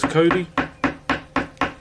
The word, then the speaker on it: Kauri: Like this one here is Cody. So it's spelled Kauri.